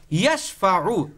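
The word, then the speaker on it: يشفع: ইয়াশফাউ, এখানে কোনো মদ নাই, কিচ্ছু নাই, কোনো নিয়ম নাই, শুধু এখানে হরকত, মানে দ্রুত পড়তে হবে।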